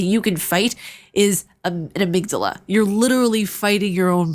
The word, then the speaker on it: amygdala: to point something out I'm not going to pronounce it amygdala because that's just wrong it's called amygdala get it right and it's a little